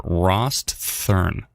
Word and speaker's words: Rosthern: Is it Rosthern or Rosthern? Rosthern. I don't have to double pronounce the T. It's just Rosthern.